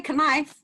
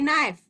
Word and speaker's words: knife: You don't say knife. Say knife. Firstly, we all know that the K is silent when it's next to an N.